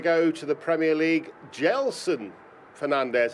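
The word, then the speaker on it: Gedson Fernandes: to the Premier League gelsin Fernandes that's how I'm told you pronounce his name despite the spelling paraded in at Optima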